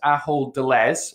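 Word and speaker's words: Ahold Delhaize: to practice pronouncing that a whole de les it's a Dutch name they have a logo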